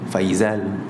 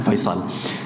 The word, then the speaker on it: Faisal: Tapi mungkin orang Melayu dia susah sikit, tergeliat sikit nak sebut sod, dia jadi zai, Faizal. Tapi asal usul makna Faisal.